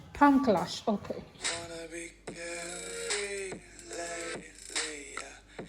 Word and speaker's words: Palm Kalash: how do you pronounce the place? Palm Kalash. Palm Kalash, okay.